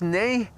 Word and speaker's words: nee: The nineh nvember echo echo in Dutch pronounced as nay which means no.